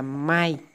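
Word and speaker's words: 妹: Rồi dưới đây là mộc gỗ ha, mộc gỗ thì nó là chữ muội ha, muội đọc là mai.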